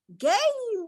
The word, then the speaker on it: game: Then the E is silent. So you pronounce this as game. Repeat after me, children. Repeat it. Say game.